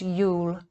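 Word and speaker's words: Iul: concept of him, was Lul, pronounced Yule, hence our word Yule for the Christmas tide, meaning knowledge, art, science,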